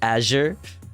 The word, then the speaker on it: Azure: I think it's Azure, like Asher Roth, but with a hard S.